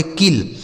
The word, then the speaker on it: kill: तो हमने आपको बताया पीछे कि अगर कोई भी अक्षर 2 बार लिखा होता है तो एक साइलेंट होता है, एक ही से लिखते हैं। तो यहाँ एल से हो जाएगा ल, इसे पढ़ेंगे किल।